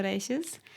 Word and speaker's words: Reyes: But that's also like the very Argentinian pronunciation. Because like in Spanish, usually you would say Reyes. But in Argentina, they put like a sh where the I is. So instead of yo me llamo, they would say yo me llamo.